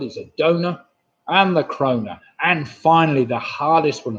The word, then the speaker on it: krona: Number nine, I was after a donor and the krona, of course.